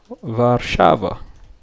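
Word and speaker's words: Warszawa: So I'm going to create new going to say travel to and from V Shava or that's how they say it.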